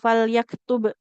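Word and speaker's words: فليكتب: Contohnya ini falyaktub. Nah, ini kan ada tanda sukunnya kalau di layar. Karena huruf ba kita baca dengan jelas ya, terdengar bunyi huruf bnya qalqalahnya.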